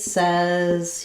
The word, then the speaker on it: says: The spelling looks like says, but it changes to the vowel, says.